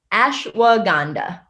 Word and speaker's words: ashwagandha: Because I've mispronounced it for like years. And it's ashwagandha.